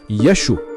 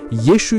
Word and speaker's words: Yeşu: Asıl adının İbranice kökenli Yehuşuaan yeşua'ya kısaldığını ve muhtemelen İsa'nın ana dili olan Aramicede Yaşu olarak kullanıldığını ya da lehçelerle yeşu ya da yuşa olarak telaffuz edildiğini öne sürmektedirler.